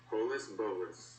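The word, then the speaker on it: holus-bolus: Again, here's how it's pronounced. Holus bolus.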